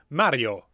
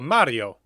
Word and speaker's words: Mario: to correct me but in Italian here would be Mario or Mario and you know what's